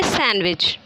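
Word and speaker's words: sandwich: डब्लू डी या एस तो हम लोगों का जो डी है व क्या हो रहा साइलेंट हो जा रहा है सैंडविच हम लोग क्या बोलते और पढ़ते हैं सैंडविच च लेटर इ साइलेंट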